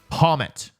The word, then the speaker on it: Pawmot: Pommet. I know that sounds like I'm pronouncing it stupid on purpose, which I don't even do anymore, but I'm just bad at pronouncing things.